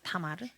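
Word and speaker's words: תמר: 성경에 나오는 다말. 네. 대취하자도 타마르고요. 타마르와 동일하게 다말의 히브리식 발음이 타마르입니다. 타마르.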